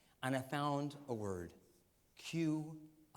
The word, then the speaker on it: Qi: Qi cheese is how it's pronounced.